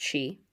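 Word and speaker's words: Sidhe: And yes, S-I-D-H-E is pronounced she.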